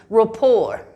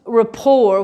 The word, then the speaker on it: rapport: use it is rapport i know it is spelled with the t but the t is silent we do not use we do not say the t it's rapport so when someone has